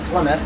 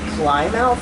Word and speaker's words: Plymouth: out and then also Plymouth is like for us we I'm no Plymouth because that's where the pilgrims like arrived but to most people it's like climb out like they can't but